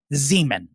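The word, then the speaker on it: Xeomin: x e o m i n and it's pronounced Zeman so when the nurse practitioner said we're gonna be using zean I looked at her and I said Myra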